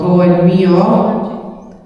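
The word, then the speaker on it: Gault&Millau: another Bedeker which is called Go and Mio. They say it's pronounced like that.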